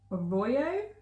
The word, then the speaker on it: Arroyo: So I bought 3 skeins, and this is the Malabrigo yarn Arroyo, is that how you pronounce it?